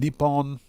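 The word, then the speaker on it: Nippon: Cody says, "Earlier, I found out that Nihon and Nepon are acceptable uh ways of calling of saying Japan." Yes, Cody, that is correct. That is correct. Uh both pronunciations are 100% correct.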